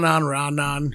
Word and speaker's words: Raanan: It's It's like It goes either way. Ran. Ranon.